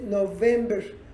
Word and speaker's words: November: El mes de noviembre, fíjense en mis labios, noviembre, noviembre, es labial. En inglés, November, November, este es labiodental, November, y la otra es labial.